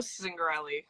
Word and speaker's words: Zingarelli: I don't want to I didn't want to butcher them yeah no worries um it's zingarelli um it's okay last name Okay cool so